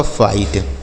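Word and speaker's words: fight: तो अगर आई के साथ GHT लिखा हो, क्या लिखा हो मेरे भाई? आई के साथ GHT लिखा हो तभी हम इस आई का उच्चारण आई ही करेंगे।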